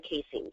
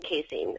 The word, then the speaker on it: casein: There's whey protein, W-H-E-Y, and then casein, C-A-S-E-I-N.